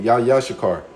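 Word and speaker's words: יששכר: Yeah, I'm saying it right. It's just me looking at it, but I said it I pronounced it correctly. Yashakar.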